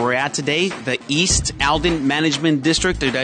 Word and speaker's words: Aldine: this location where we're at today the East Alden Management District did I say it right yes